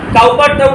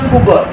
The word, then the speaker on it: Cowper: কার লেখা William কুপার কাউার নয় উচ্চারণটা হচ্ছে উইলিয়াম কুপার প্রথমে লেখকের সমস আমরা